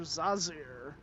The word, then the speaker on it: Zazir: do it on purpose it's Professor zazir like laser with a z how hard is that